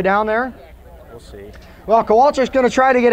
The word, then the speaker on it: Kowalczyk: Now this is, I've seen this spelled a couple different ways today. So is it right? Am I Kowalczyk?